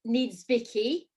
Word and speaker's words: Niedzwiecki: so now your obviously your name is needs vicky that's how you pronounce it so i mean are